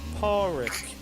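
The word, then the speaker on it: Pádraig: It's pronounced Porrick.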